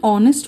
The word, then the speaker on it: honest: at the next exception an is used before words beginning with a silent h article n is used before words beginning with a silent age for example my mother is an honest woman my mother is an honest woman in this sentence we use and before honest even though it begins with a h this is because the h of honest is silent and we pronounce